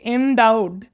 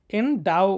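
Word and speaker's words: endow: লাগবে বুঝ না অনেকে এনডাউড এনডাউকে এনডু উচ্চারণ করে এনডু উচ্চারণ করবে না এনডাও উচ্চারণ করবা ওকে তো এনডাউড মানে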